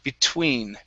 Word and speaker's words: between: between okay give me a good t sound between between between great all right nice